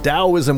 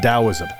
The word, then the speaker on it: Taoism: Chinese and Western cultures, most people spell Taoism with a T, but most people pronounce it with a D.